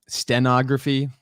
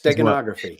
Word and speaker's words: steganography: what it's it's actually stenography is a much more uh genography i'm sorry i'm saying it wrong stegosaurus steganography got a room the g the hard g in there somewhere is a differentiator um but gematria is